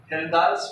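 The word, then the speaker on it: Kjeldahl: इसको आप जेलदाल्स बोलो, हेल्दाल्स बोलो, के साइलेंट है, तुलसीदास चलो चलिए को हेल्दाल्स मेथड, ठीक है।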